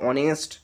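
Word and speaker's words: honest: এস টি এই উচ্চারণটা হনেস্ট নয় কিন্তু এর উচ্চারণটা হনেস্ট নয় উচ্চারণটা হচ্ছে অনেস্ট অনেস্ট অনেস্ট মানে কি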